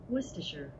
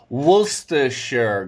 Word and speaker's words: Worcestershire: It's one of the most tricky English words to pronounce just because it has so many silent letters. Not just one silent letter, it has like 5 silent letters.